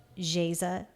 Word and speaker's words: Geisa: is from brazil and jesus which is that's how you say it in portuguese is brazilian laissez was